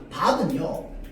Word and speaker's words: 밟: 이 리을 비읍에서 이 필요 없고, 자, 리을이 원칙인데 이 얘는요, 밥은요 그냥 밥입니다. 이유 없어. 환경도 없어. 그냥 밥은 밥이야. 얘는 발이 아니고 밥이야. 그냥 밥이야. 얘는 그냥 밥. 그냥 외우는 거야.